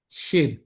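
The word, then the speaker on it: שׁ: Yang sebelah kiri itu sin biasa, S biasa. Tapi kalau yang sebelah kanan titiknya itu sin, shin ya. Shalom. Jadi sya, sya. Tapi biasanya ditulis SH ya. Tidak masalah ya mau tulis sya atau SH.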